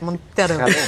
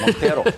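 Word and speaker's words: Monteiro: Is pronounced. Okay. You must say it like that, Montero. Montero.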